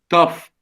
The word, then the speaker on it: tough: Like enough, tough, cuff. Okay, so these GH should be pronounced as F.